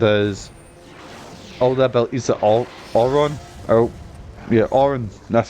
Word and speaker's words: Auron: And basically what happened is, all the abilities that Auron, that's how you say his name, had Tidus got.